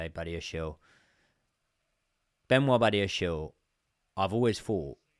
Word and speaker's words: Badiashile: I know everyone says I pronounce it wrong. Badiashile.